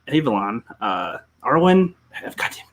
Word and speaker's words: Avalon: man well uh yeah check out uh arwin avalanche avalon uh irwin i've got him i'm getting it mixed up now i pronounced it right earlier i want avalon for